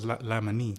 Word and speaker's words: Laimanee: All right, now I know we went through this before, but it's Laimanee. Yeah. Laimanee. Okay, so Like that's the Thai pronunciation.